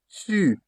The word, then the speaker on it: tu: You have to tie the O with your lips rounded. U. U. What French used to say tu. Tu. That is you singular. U. That is, for example, tu. Tu.